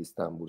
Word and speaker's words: Istanbul: Santa Sofia a Istanbul si dovrebbe dire Istanbul secondo il Dop dizionario di ortografia pronuncia però se dica instanbul Non Venere a nessuno Allora Istanbul che Ataturk